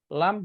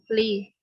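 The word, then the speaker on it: لِ: Sedangkan ini bacanya bukan la, bukan lu. Bukan la, bukan lu. Tapi bacanya apa? Li.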